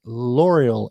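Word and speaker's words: L'Oréal: how you pronounce that it's got an apostrophe in the middle of it it's l'oreal l apostrophe o r e a l l'oreal something french i have applied for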